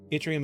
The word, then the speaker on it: Yttrium: Yttrium is a pain to pronounce because it's Swedish, but basically you don't say it like in English, Y, you just pronounce it in a short I, like Yttrium.